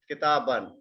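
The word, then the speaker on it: كتابًا: Kitaban. We simply write this alif, but we don't pronounce this one. It becomes kitaban.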